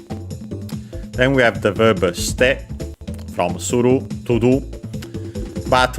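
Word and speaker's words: して: Suru again is completely irregular, so to make it step form we have to remember that it's ste. Again, they barely heard it at all because it's between a voiced consonants.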